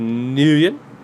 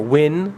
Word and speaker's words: Nguyen: So, you got the Nguyen. Or Win. Again, I've seen that. I know two different people. One same last name, not related. One family pronounces it Win. Other pronounces it Nguyen.